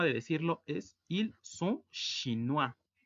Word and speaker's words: chinois: Otra forma de decirlo es ils sont chinois. Recordemos que la unión de las vocales o i suena ua y la s al final no se pronuncia.